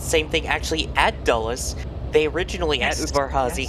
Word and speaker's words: Dulles: And Discovery's that I keep calling it Jules, but how do you pronounce it? At Dulles Airport. Dulles.